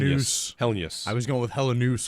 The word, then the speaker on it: Helenius: And I'm pretty sure it is Helenus. Helenius. That's it. Three syllables. Helenius. Yeah. Helenius. Yep. We're into that. Not Helenius. Not Helenius. Helen. Helenius.